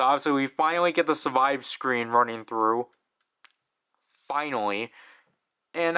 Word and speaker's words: Survive: I think I used to say survive wrong, because I think I actually used to say like survival. So like I used to pronounce it as like Ryuki survival and then night survival, and then I got heavily criticized for that.